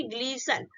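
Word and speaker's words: glisten: ठीक है, ग्लिस्टर नहीं बोलेंगे, इसको क्या बोलेंगे, ग्लीसन। उसके बाद एच ए टी एच, ठीक है, हैच।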